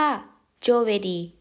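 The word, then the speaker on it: giovedì: วัน พุธ วัน พฤหัสบดี เรา จะ พูด ว่า โจเวี โจเวี วัน ศุกร์ เรา จะ ออก เสียง ว่า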